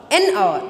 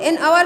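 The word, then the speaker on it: hour: देखो दिया गया आवर, एन आवर, एन आवर क्यों बोला गया, एच है, एच यहाँ पर साइलेंट है, इसीलिए ओ का इस्तेमाल हो रहा है, इसीलिए यहाँ पर एन लग रहा है।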